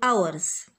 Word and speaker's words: hours: you what are your hours hours يعني ساعات، تمام كده. what are your hours، تمام. hours يعني ساعات، اخدناها في المنهج اللي هي اولها اتش، وطبعا ما بننطقش الاتش، فهتكتب هنا كلمة hours.